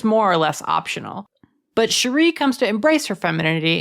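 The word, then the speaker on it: Cheery: Number nine, Sheree Little Bottom. Cherry, but pronounced Sheree Little Bottom, is the forensics expert on the watch, ranking below Vimes and detritis.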